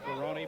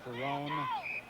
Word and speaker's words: Ferroni: Also Dan Ferroni, who pronounces his name Ferroni, but many people call him Ferrone.